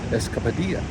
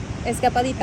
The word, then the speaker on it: Escapadita: And so we got away today, and we found Escapadilla. Sí. Did I say it right? Escapadita. Escapadita.